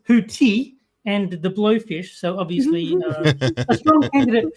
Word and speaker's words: Houthi: So, uh you are letting us know that you will be uh taking care of uh your clothing and um Hus is unfortunately it's Hooti and the blowfish.